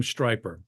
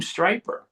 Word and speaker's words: Stryper: And someone wrote down the name Stryper. And then Robert said, "Well, what if we spell it with a Y, so it rhymes with hyper?"